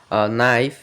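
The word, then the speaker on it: knife: আর যেমন রাইট রং কে এন যেমন কে এন ও ডবউ নো নাইফ এমন আমরা যদি লাস্ট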